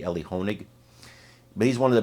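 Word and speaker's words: Elie Honig: expert on CNN namely Ellie hanik who I believe is really one of the best out there I'm sorry I said his name wrong it's actually Ellie honig but he's one of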